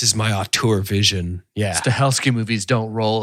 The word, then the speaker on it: Stahelski: How do you pronounce the director's name? Chad I would say Stahelski. Stahelski?